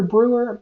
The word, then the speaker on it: Breur: for the melodology podcast my name is Brewer Brewer is spelled b-r-e-u-r it's just five letters and the